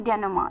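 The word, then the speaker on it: denouement: डेनोमा के अंदर काफी अल्फाबेट्स जो हैं वो साइलेंट है। जैसे कि आप समझ ही पाएंगे। डी ई एन ओ यू ई एम ई एन टी डेननेमा। Clear? तो टी साइलेंट है।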